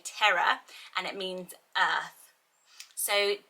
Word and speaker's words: Tierra: I'm not 100% sure how you would pronounce it, Tierra, which I think you say terra, and it means earth.